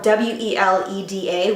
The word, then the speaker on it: Weleda: oil that I got, which is, the brand is spelled W-E-L-E-D-A, Weleda, and it's a stretch mark massage oil.